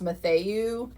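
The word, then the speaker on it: Mathieu: I think her last name is pronounced Matthew, Jennifer Matthew.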